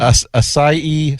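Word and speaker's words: açaí: What What am I mispronouncing here? Cratchet. Asai sorbet.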